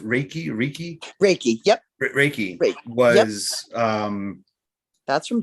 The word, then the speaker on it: Reiki: And in fact, that's, if I'm not mistaken, isn't it's pronounced Reiki?